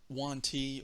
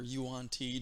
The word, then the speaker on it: Yuan-Ti: Three of these guys are just Yuan-Ti or Yuan-Ti, depending on how you want to pronounce them.